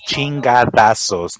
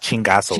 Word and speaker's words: chingadazos: It's chingadazos, not chingazos. Chingazazos?